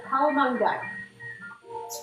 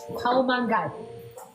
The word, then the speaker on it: Kaomangai: She can do a lot better job of me pronouncing it. It's a little difficult name tonight. So it's called a Kaomangai. Kaomangai. Kaomangai.